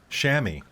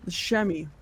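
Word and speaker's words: chamois: built for climbing mountains so it's pronounced uh Shamy yes they are shammy H we're learning yeah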